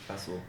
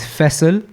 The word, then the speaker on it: Faisal: And so in like the Pakistani dialect, the way you would say my name is Faisal. Yeah, Faisal. Mera naam Faisal. Yeah, there you go. Mera naam Faisal. Yeah. So now, if you convert that into English, it just becomes Faisal, innit?